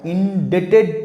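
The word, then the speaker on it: indebted: I city inflict on ইনডেটেড টু ইন ডেটেড আই এন ডি বি টি ডি ইন ডেটেড বির উচ্চারণ হবে না ইনডেটেড two impose on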